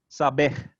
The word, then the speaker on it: saber: this word which is spelled like saber if you were going to pronounce it in english is sabeh in portuguese right i don't know if you could tell the stress was on the final syllable there so previously i